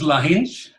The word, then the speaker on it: Lahinch: This is Lahinch, and I think I just butchered the name. I have no idea how you say that. What? Perfect. Okay, so it's Lahinch.